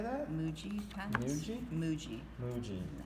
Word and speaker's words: Muji: Muji pens.